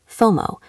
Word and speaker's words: FOMO: We pronounce this as a word, FOMO. We do not usually say the letters f O.